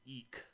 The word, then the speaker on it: Ik: Uganda uh that are called the Eek it's ik is how you spell it uh the Eek people